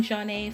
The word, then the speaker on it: Zhané: The track was released as a separate single as well, helping Jah-Nay finally land a contract deal with Motown Records in 1994. Their debut album, pronounced Jah-Nay, also produced 2 other